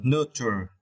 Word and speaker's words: nurture: Yes, and for the final keyword, we need to understand the word nurture. Yeah, here the meaning in Vietnamese. And for this word, you need to stress the first syllable.